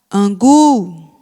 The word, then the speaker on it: angu: Angu. Angu. Então, a sílaba tônica é o gu.